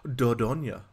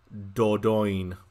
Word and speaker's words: Dordogne: British Speaking place this game would not be pronounced as dodonya no no it would be pronounced as dodoin I don't know how I don't know why